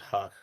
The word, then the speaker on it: Houck: Tanner Houck, I think is how you say it, or Houck. I'm not really sure. I thought it was Huck.